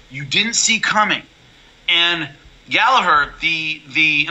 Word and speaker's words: Gallagher: didn't see coming and gallaher the the i'm trying to pronounce it the irish way yeah not gallagher yeah americans gallagher so gallaher um the problem he's